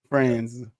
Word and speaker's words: Franz: Franz. That's what it says. Franz Wagner. Franz Wagner. That's what it says. It's Fran with a Z. Franz.